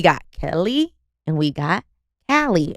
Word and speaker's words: Callie: And today, baby, we got Kelly and we got Callie. Am I saying that right? Callie. Callie. Kay phonetically.